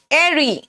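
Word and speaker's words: eyrie: कहते हैं ठीक है एरी बेटा इसका प्रोनंसिएशन कारण इसको कई बार एरी अब स्पेलिंग भी यह देख लोगे जबकि एक्चुअल स्पेलिंग था ई वाई आर आई ई लेकिन प्रोनंसिएशन इसका एरी निकला तो एरी वर्ड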